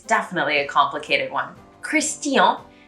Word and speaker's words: Christian: definitely a complicated one christian becomes christian normally in english there's a lot of this chin coming out and when you say it with the french accent you really need to pronounce the t it becomes tia so christian and then